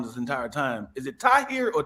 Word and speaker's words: Tahir: though I always say I always say to hear more like would you like